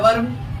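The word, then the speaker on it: verb: अब आता है वर्ब। बहुत व्यक्ति इसको भर्व करते हैं, भर्व नहीं वर्ब।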